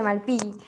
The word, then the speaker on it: Malpighi: ¿Así se pronuncia? ¿Malpillo o Malpilli? Malpillo. Malpilli. Ok, bueno, a la cápsula de Malpighi.